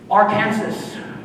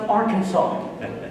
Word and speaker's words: Arkansas: Confidently, I said, Arkansas. Arkansas. He corrected me and said, no, son, it's pronounced Arkansas.